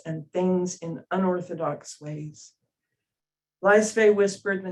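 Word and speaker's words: Laisvė: It's Lithuanian, and it depends on the Lithuanian person you speak to. But one version is Laisve. It almost has 3 syllables.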